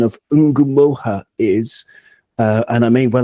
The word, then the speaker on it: Ngumoha: Bongo, he or she, they have seen on YouTube that it's Nomuha, like Omaha, but Nomuha. But I'm not sure where you get that from, because according to my research, Bongo, it's Ngumoha, and it's from the